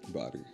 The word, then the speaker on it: Boddie: Boddie? Body. Body. The human body.